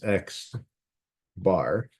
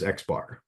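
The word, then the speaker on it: x̄: to describe my data we say this as X bar so I would just pronounce it as xar right if we had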